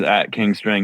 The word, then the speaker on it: King Strang: Everything is @kingstrange music. Pretty easy. Strange without the e, rhymes with thing.